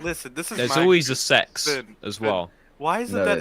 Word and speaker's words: CeX: a store over here called sex and it's spelled CeX and they sell secondhand